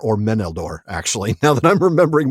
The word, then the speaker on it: Meneldor: So Sara, what about Melddor or Meneldor actually now that I'm remembering my pronunciation rules?